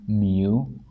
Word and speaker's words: mu: notation X follows a normal distribution with mean mu this letter is a Greek letter is pronounced mu all right and variance Sigma squar